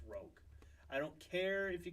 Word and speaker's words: Rogue: UK there's no excuse for that it is pronounced ounc Rog I don't care if you call it Rouge in the UK it is pronounced Rog oh